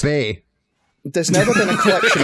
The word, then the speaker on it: BAE: I think it's pronounced Bay.